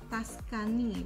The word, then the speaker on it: Tuscan: Kalau si Giordani Gold Essenza ini dia punya base note-nya Tuscan wood, Tuscany, bacanya berarti Tuscan ya, Tuscan wood, amber note dan musk.